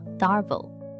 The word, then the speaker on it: DARVO: problem instead Psychologist Jennifer Freyd coined a concept pronounced DARVO: D-A-R-V-O It stands for Deny Attack and Reverse